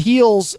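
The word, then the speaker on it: Hel's: So it looks like, at first I thought it was Hell's Throne when I first saw the name, but then there's only one L because it's Heel's Throne, and Heel has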